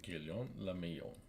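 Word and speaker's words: Guillaume Le Million: Guillaume Lamillon. If it doesn't rhyme, you're not pronouncing it right.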